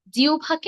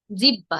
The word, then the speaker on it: জিহ্বা: করি আমি যেটি বলছিলাম জিউভাকে আমরা অনেকে বলি জিহ্বা তাই না কিন্তু এটি জিহ্বা হবে না এর সঠিক উচ্চারণ হবে জিউভা আরেকটি শব্দ আছে জিব